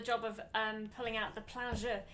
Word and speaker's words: plein jeu: And I had the job of pulling out the plein jeu. Your pronunciation of plain Jew. Plain Jew. Pleasure was the English way. Corrected earlier. The English way of saying it, isn't it?